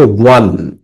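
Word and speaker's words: won: line শেষ রেখা এন্ড ওয়ান এবং জিতে গেল এটার উচ্চারণ হচ্ছে ওয়ান ওকে এন্ড ওয়ান এবং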